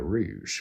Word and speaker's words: Rouge: English as the Khmer Rouge. Despite... Oh my days, I actually pronounced it and said, I'm dyslexic, it's Rouge, not Rogue, what the fuck?